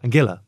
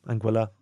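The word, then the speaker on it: Anguilla: speedboat over to uh angilla anguila however you want to pronounce it from where you're from yeah and um cuz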